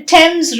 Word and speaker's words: Thames: bathe is the verb in a few words this th combination is not pronounced as f or the it is pronounced as ter for example t-h-o-m-a-s is